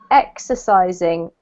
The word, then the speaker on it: exercising: So the first one is exercising. Exercising. Exercising. Perfect. So the emphasis here is on the first syllable, the X, okay?